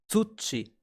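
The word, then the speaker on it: 土: part of this kanji the reading for soil ground is touchy and a good way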